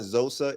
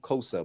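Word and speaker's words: Xhosa: I I I misspoke it's not zosa it's called Cosa but it's but it's spelled x-h-o-s-a is Cosa okay okay Mash I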